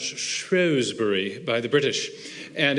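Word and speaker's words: Shrewsbury: was speaking at uh what I thought was shrewbury but uh it's actually pronounced shury by the British and it's the place of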